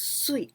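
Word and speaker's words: 水: water mizu mizu but in this case mizu we pronounce sweet like suiyobi can imagine what it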